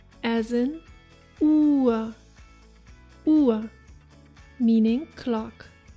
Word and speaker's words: Uhr: As you can see with the pronunciation of O and U, the correct pronunciation of the vowels is vital, since it significantly changes the word's meaning if you pronounce one incorrectly.